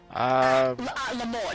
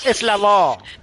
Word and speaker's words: la mort: Yeah, but the T is silent. What T? It's la mort, not la mort.